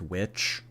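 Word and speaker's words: The VVitch: It's pronounced witch? What do you mean? I know on the poster it was 2 V's, but if you actually look up that movie, it's called The Witch.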